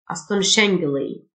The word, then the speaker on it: astonishingly: incredibly amazingly amazingly astonishingly الاس اتش تنطق شه astonishingly بشكل عادي او شائع